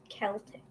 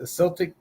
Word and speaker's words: Celtic: to pronounce the name is Celtic pronounced Celtic or Celtic alphabet directly from Latin so it doesn't have a k so while Modern English rules say Celtic should be pronounced with a soft C many English speakers prefer to pronounce words and names from other languages the way that they would have us pronounce them which in this case is a hor she's